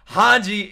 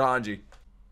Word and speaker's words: Hanji: what man hanji's crazy hanji is insane in the head and you know what hanji rhymes with Sanji and I like Sanji